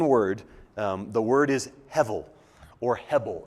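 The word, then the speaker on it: הבל: dot so we say heavil that's just so we're not confused about why does he keep pronouncing the B like a v in Hebrew it sounds that's the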